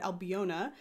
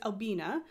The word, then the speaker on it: Albina: learning like Albina McLaughlin I didn't realize that it was Albina I always had said albiona um but it's Albina and I appreciate knowing